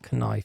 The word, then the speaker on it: Knife: It's knife. Actually, you never pronounce the K.